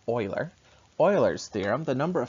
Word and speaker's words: Euler: Euler's theorem, I know it looks like Euler, but it's pronounced Euler.